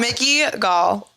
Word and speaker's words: Mickey Gall: They said my name wrong. This isn't funny. Stop. It's Mickey Gall.